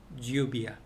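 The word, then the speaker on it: lluvia: 유비아도 아니고 주비아도 아니고 그 어딘가 중간. 그래서 유비아. 제가 주비아라고 한지 유비아라고 한지 헷갈리네 라고 생각할 정도로 이렇게 해주셔야 된다는 거.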